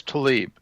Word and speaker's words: Tlaib: Political upheaval over, is it Tlaib? Is that how you say it? I don't watch TV. She says Tlaib.